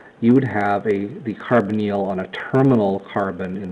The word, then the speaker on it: carbonyl: and ketones are characterized by what's called the carbonyl or the carbon eel usually pronounce it the carbonyl group and it's a carbon atom with a